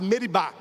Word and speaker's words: Meribá: Nas leituras, geralmente a gente lê Massa e Meriba, mas a pronúncia certa é Massá e Meribá.